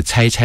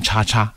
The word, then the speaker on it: 差差: 那这个差差，如果你不知道他是邮差的话，你可能会念成叉叉工作日志。